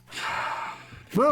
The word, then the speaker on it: Raate: It's not Rate Road. I've said this to you. Raate. I know, I pronounce it the English way, but that was a good campaign.